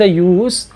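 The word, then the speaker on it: use: यूज़ करते हैं, यानी जब हम किसी नाम के लिए या किसी नाउन के तौर पर इस वर्ड को यूज़ करते हैं तो वहाँ पर इसका प्रोनाउंसिएशन जेड के साउंड के साथ ना हो करके से के साउंड के साथ होता है।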